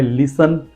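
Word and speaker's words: listen: पढ़िए उसके बाद है लिसन एस टी ई एन का सेंस है टी साइलेंट है लिसन एंड फसन एफ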